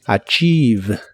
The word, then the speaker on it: achieve: de inglés es achieve no se pronuncia ninguna en esta palabra pero sí una I larga o doble achieve achieve en el presente la